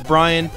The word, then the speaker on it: Brian: and my name is Brian and that rhymes with Ryan you ain't lying or